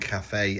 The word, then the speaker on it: Cathay: It's the Grand Cafe. And this is the battalion box. Is it pronounced cafe? That's how that's what I'm running with.